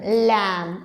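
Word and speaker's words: lamb: will remain silent here the B will remain silent only will going to make the sound let's see the words लम okay this word also we can take थ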